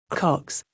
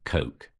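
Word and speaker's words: Koch: certainly looks like things went bust and what Cox Phil was talking about Cox this morning I believe you mean the cokes Coke too no Coke the name of the billionaire brothers who backed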